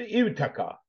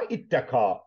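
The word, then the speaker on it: اتقى: Ama onun ifal babına aktarılmış şekli aslı ivteka. Ama itteka olarak telaffuz ediliyor.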